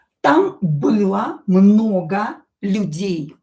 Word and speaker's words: много: Там было много людей. O, not stressed, will be pronounced as a.